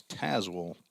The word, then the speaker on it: Tazewell: grandson of owa in that's Tazewell Tennessee is how that's pronounced t-a-z-e-w-e-l-l bringing pitch lined